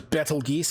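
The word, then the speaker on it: Betelgeuse: a red giant star named Beetle Juice or ble geese I've heard it pronounced as well I believe it's Beetle Juice it's a red giant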